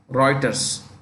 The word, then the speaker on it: Reuters: for a company called Reuters that's how you pronounce it Reuters r-e-u-t-e-r-s the full name is Thomson Reuters but